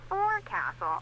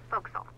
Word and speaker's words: forecastle: ship, but it's pronounced forecastle. Why is that? Try pronouncing it like an English sailor with no formal education.